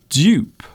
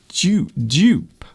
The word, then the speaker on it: dupe: So this is a strange word to pronounce because you have the letter D and U and P all together. Dupe. Dupe. So the sound is almost like J. So it's almost like dupe. And in British English, that's the way we pronounce it. However, in American English, they will pronounce this as dupe.